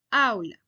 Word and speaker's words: aula: ejemplo la palabra aula Yo no digo aula sino aula entonces me doy cuenta que es la primera sílaba que comienza con a Au la que lleva la mayor fuerza de voz aunque aula es femenino